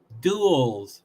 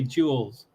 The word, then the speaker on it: duels: then they do duels duels is the way that word is pronounced but they say jewels it starts in a